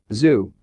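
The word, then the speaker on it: xu: the six sounds are zoo pronounced like shhh with a deep sigh which is associated with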